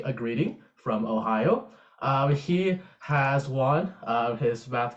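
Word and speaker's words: おはよう: Yes, and thankfully, because you mentioned the greetings, this is how you say Ohio in Japanese, which sounds like Ohio, which is where I'm from.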